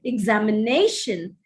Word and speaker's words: examination: Or look at the word examination. Examination, the accent is on the fourth syllable.